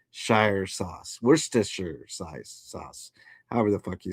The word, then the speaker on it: Worcestershire: Yes, you do say the Shire part. Worcestershire sauce. Worcestershire sauce.